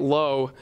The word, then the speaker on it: Lowe: got Nate lo Brandon Lau went up the same day now they both spell their names the exact same way when L o w e but they pronounced it a little bit differently and both were cleanup